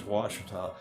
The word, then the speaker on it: Washita: okay cheetah but but the spelling of the way the Indians pronounce it is Washita it's where all the